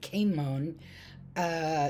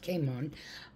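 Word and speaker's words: Cimon: Their leader was a guy named Caimon, C-I-M-O-N, and I think, believe it's pronounced Caimon, who watched out against Persia, also kept a lookout against Sparta.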